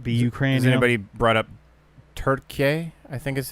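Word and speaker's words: Türkiye: Ukraine anybody brought up turkey I think is how it's pronounced oh yeah t-u-r-k-i-y-e I think right turkey turkey I think that's I I don't quote me but yeah in in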